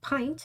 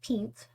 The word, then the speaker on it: Pint: Pronounced pint instead of peent, Pint Drop is a faithful and optimistic young warrior.